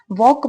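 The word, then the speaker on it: walk: है ये word, वॉक, वॉक में एल साइलेंट होता है, इसको वॉल्क नहीं पढ़ेंगे, इसको हम वॉक पढ़ेंगे। वॉक का मतलब होता है चलना।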